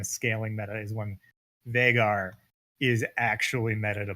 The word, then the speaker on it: Veigar: we're seeing a bit of more in Korea's vigor Veigar excuse me now we say his name though